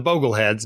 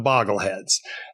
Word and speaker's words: Bogleheads: And so his followers are the Bogleheads, not the Boggleheads.